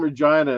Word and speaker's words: Regina: like, "I'm from Regina." It rhymes with vagina or something like that.